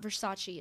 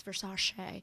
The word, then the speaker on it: Versace: was like for sashay it's not versace it's for sashay and it's so funny